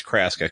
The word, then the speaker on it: Kraska: of your own with Wayne Kraska, and I'm pronouncing that right. It is Kraska, correct?